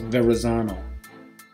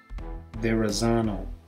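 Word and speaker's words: Verrazzano: if you're an esl student you will probably pronounce it probably for esl but anyway it was verrazano verrazano already say with me the verrazano i went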